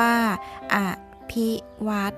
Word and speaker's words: อภิวัฒน์: เฒ่า นอ หนู การันต์ ออก เสียง ชัด ๆ ว่า อ้ะ ภิ วัฒน์ ซึ่ง มา จาก คำ